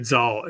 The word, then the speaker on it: Zahl: I'm here with um and I got to look up your name to make sure I pronounce it right, David Zaul, who uh co-founded Mockingbird and has a new book out called The Big Relief.